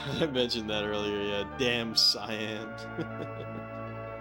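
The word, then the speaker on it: Damcyan: Yeah, damn cyan. I've been pronouncing it damsian.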